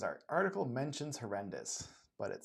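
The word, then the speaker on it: HoRNDIS: driver, um he decided to name his project horrendous. And it's kind of spelled it's spelled horn hornis but it he says it's pronounced horrendous because he hates endis and arendis and uh the whole stack.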